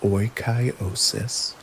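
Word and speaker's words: oikeiosis: The crucial stoic concept that explains this deep social connection is oosis pronounced oyosis.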